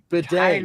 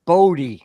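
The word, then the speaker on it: Badie: It's Tyler Bod. It's bad. It's Bedet. Not bad. It's Bedet. That's his last name.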